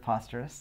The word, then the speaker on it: Posterous: Co-founder of Posterous also. So let's get that out of the way. How do you say Posterous? We like to say Posterous as in preposterous.